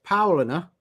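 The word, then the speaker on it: Paulaner: pronounce German beers and apparently it's Paulina and Spartan Spartan oh she said I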